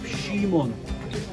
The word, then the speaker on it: Shimon: า ษ า ฮิ บ รู House of Shimon.